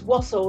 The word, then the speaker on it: Wassell: Yes, it's Wassell, like waffle, but with S.